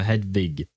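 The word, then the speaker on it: Hedwig: Uh Hadwig. Yes, you are pronouncing it right.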